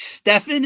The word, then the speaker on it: Stephen: carry no guess stepan it's Stefan and I think yeah it's spelled the same as Stephen well and also I